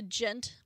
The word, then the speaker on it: Djent: So if you didn't know, Periphery is a gent band. It's spelled Djent, but you don't say the D, or progressive metal, whatever you want to call it.